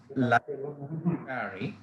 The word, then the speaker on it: laissez-faire: This is pronounced as Laissez-faire, right?